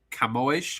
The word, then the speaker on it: Camões: I read the Lusiads of Camões, I think is how you pronounce it in Portuguese, when I was quite young, and I still read them quite regularly to this day.